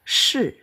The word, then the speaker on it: 是: Terus di sini ada shi. Ini bacanya shi ya.